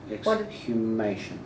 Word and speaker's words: exhumation: you said you've been involved in, and I can never say the word properly. Exhumation. There you go. Yeah. Can Just you like it's spelled.